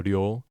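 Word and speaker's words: 量: Ryo r y o with a long vowel.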